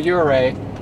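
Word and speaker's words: Ouray: are muddy so we finally made it to uray and I think we're finally pronouncing it correctly at this point too so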